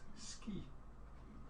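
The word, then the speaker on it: sgith: It's pronounced ski.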